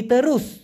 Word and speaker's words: terus: করছেন, আসসালামু আলাইকুম ভাইজান, তেরস অথবা লুরুস দুইটা বাংলা অর্থ কি হবে? এখানে মূলত সঠিক উচ্চারণটা হবে তেরুস, TERUS। টি যেহেতু ওরা তয়ের মতো উচ্চারণ করে, TE তে, RU রু, এসকে উচ্চারণ করে স, এই জন্য তেরুস মানে হচ্ছে সোজাসুজি অথবা বরাবর।